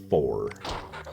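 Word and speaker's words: Pfhor: These things are called Phor. That's spelled P-F-H-O-R.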